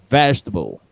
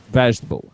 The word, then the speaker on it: vegetable: And finally, this word, remember the tonic, the stressed syllable here is vegetable. Repeat with me, vegetable.